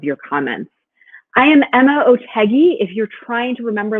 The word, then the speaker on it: Otheguy: I am Emma Otegi. If you're trying to remember later, how do you pronounce that woman's name? You can remember that Otegi rhymes with Peggy.